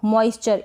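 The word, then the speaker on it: moisture: मॉइस्चर, क्या पढ़ रहे हैं इसको? मॉइस्चर, इसको तो हम पढ़ देंगे चर।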